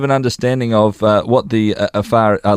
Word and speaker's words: Afar: That community that you have become a part of, the Afar, is that how we say it correctly? Afar, yes. Afar.